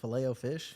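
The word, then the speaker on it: Filet-O-Fish: I I ate a fileto fish every day for seven days how do you pronounce it fileo fish fileo fish you couldn't pay me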